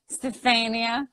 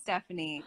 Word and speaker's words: Stefania: Do people butcher your name? Yeah. Really? Stephanie. Stefania. Stefania. I could see people saying Stephanie because they just are stupid and say it.